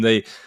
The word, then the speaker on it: Target: immediately which is that people refer to it by a ified pronunciation which they call it t and so you know whereas Walmart is the genuinely budget conscious option tar is what you might